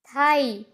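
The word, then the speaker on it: thigh: किसी वर्ड के लास्ट में जीएच आए तो जीएच हमेशा साइलेंट होता है। तो चलो यहाँ पे भी एग्जांपल्स के थ्रू समझते हैं। हाई, साई, थाई, तो यहाँ पर भी आप देखिए लास्ट में जीएच आ रहा है।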